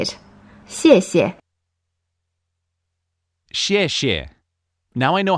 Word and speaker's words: 谢谢: X is pronounced like xi, as in the word she, but slightly different. Just practice repeating how I say it. 谢谢.